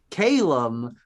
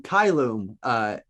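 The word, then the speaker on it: caelum: He does not pronounce Latin correctly, by the way. He says Calum when he's reading Kylum, it for the word for heaven in Latin.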